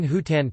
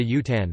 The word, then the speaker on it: hutan: Elsewhere it is a very light sound, and is frequently silent, as in Hutan tilde Utan forest, Sahut tilde Sat answer.